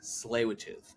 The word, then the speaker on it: Tsleil-Waututh: was talking about the tsleil mm, and I mispronounced it. And he's 6 years old, and he's like, "Dad, it's Tsleil-Waututh."